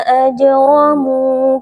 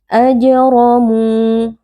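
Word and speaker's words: أجرموا: Hukumnya adalah qalqalah sughra. Cara membacanya huruf jim kita pantulkan. Ajramu. Huruf ro dibaca tafkhim atau tebal karena huruf ro di sini berharokat fathah. Ajramu.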